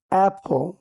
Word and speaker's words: apple: এটাকে আমরা আমাদের বাংলাদেশে আপেল বলে থাকি। এ ডাবল পি এল ই আপেল এটাই আমরা উচ্চারণ করে থাকি, কিন্তু এটার প্রকৃত উচ্চারণ হচ্ছে এ হ ল অ্যাপল, এ হ ল অ্যাপল।